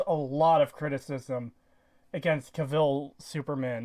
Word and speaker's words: Cavill: head new oh apparently apparently i'm pronouncing kavil's name wrong i think it's just cavil cavil yeah all right henry